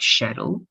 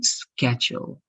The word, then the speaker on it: schedule: is like actually here you have two options Gina but I'm going to teach you the American option right because some people and in some regions they call this also like shadow shadow which is acceptable but in the American English that you need for the TOEFL Gina it's going to be schedule right schedule so this